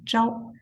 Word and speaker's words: 朝: The pronunciation is 朝.